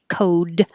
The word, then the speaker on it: code: you won't hear and code with a d that you won't hear cold with a d